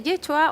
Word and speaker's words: Yeshua: El nombre de Jesús en hebreo se dice Yeshua o se escribe Yeshua y significa Jehová es Salvador o Dios es Salvador.